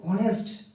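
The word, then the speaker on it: honest: এ বসাবো না এক বসাবো যেমন বন্ধুরা দেখো অনেস্ট অনেস্ট অনেস্ট অনেস্ট এইচ এস এইচ এস এইচ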